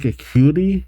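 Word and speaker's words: Acuity: acuti which means Platinum am I saying that right like aity yeah aity yeah huh yep I am in fact pronouncing it correctly at least from what I looked up and sure enough there's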